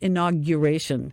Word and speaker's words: inauguration: I noticed was so annoying the word is pronounced inauguration there's no other pronunciation for it it's inaug